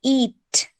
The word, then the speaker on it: eat: It's not ate, it's eat.